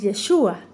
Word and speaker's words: Yeshua: El nombre del Mesías es Yeshua, con acento en la U, que significa Él salvará.